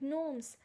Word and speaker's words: gnomes: So there are queens in the storybooks, there are fairies, knights and gnomes.